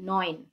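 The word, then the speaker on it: neun: আট sick 90 nine nine কি নয়ন nine হচ্ছে নয়ন তাহলে 90 নয়ন সিক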